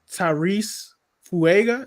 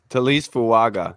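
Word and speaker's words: Taliese Fuaga: But next guy, Tyrese Fuaga. Is that how you pronounce it? Talise Fuaga.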